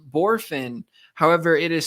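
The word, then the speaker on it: Bohrofen: it's Jace it's pronounced borfin however it is spelled b-o-h-r-o-f-e-n but it so it looks like three syllables and it's spelled a little weird but it's Jace borfin again that's b-o-h-r-o-f-e-n he's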